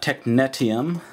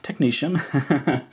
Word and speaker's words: technetium: uh T C is technum it's not technetium as I thought when I was a student and I pronounced that way for years before uh someone mentioned yeah it's technum so I'd like to